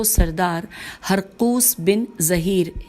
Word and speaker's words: ہرقوس: جاری رکھتے ہوئے خوارج کے رئیس و سردار ہرقوس بن ظہیر، ہجے کر لیتے ہیں نام کی، ہیر قاف